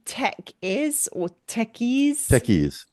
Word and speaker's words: Tekyz: Techies, Techies. like a bunch of techies sitting around the table.